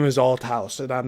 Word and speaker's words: Althouse: is my name is Alt House and I'm not going to let this go. You need to pronounce it correctly. That's al house.